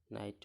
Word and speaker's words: knight: NIGHT এতটুকু উচ্চারণ হচ্ছে নাইট, কের উচ্চারণ হচ্ছে না। KNIGHT নাইট মানে অশ্ব।